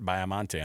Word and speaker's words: Baiamonte: Joining us on the program right now, BYU broadcasting, Biamonte on the program with us. am I pronouncing that last name right?